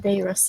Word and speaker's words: Dyrus: Is it Dyrus? Is that how you say it? Sorry. Darius. Dyrus, okay. When Dyrus wakes, I'm going to point it out to him to do his Darius watch.